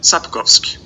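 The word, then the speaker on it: Sapkowski: spouse key on andre spouse yes and jay zapkowski that's how you pronounce it thank you okay guys that is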